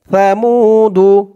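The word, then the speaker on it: ثمود: জবর বাত কাজাবাত কাজাবাত সামুদু সা উচ্চারণ একদম নরম হবে সামু এক আলিফ টান পেশ এর পরে ওয়াও সাকিন সামুদু সামুদু কাজাবাত সামুদু বিত বি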